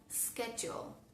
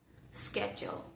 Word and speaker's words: schedule: Y cuando tenemos la tríada SCH, siempre suena el fonema K. Por ejemplo, en la palabra school, school, o en la palabra schedule, schedule.